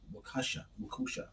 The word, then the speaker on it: Waukesha: Waukesha.